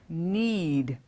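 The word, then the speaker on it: knead: need need means need the spelling is K n e a D now if you've noticed we've discussed in one of the earlier episodes that when a con when a consonant especially n follows K the K will generally be silent we've seen that in words like knife knowledge know the same rule applies here the spelling has K and E ad but when we say it we just say need and what does need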